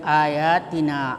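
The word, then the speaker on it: آيَاتِنَا: Kemudian ayatina ayat ya ya berbaris fathah ketemu alif.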